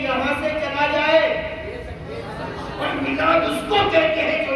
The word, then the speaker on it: میلاد: کہتے ہیں جو یہاں سے چلا جائے، اور میلاد اس کو کہتے ہیں جو یہاں آ جائے۔ حضور آئے ہیں، آنے جانے والوں کا عرس ہوتا ہے، آنے والے کی میلاد ہوتی ہے۔ اچھا دیکھیے، لفظ میلاد، میم یہ